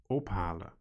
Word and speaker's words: ophalen: They are pronounced as follows: dicht doen, meenemen, ophalen, schoonmaken. Did you notice that in all cases the stress or emphasis in pronunciation was on the first syllable?